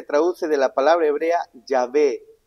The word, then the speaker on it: Yahvé: Se le agregó consonantes, la A y la E, diré vocales para poder pronunciarlo, pues, Yahvé.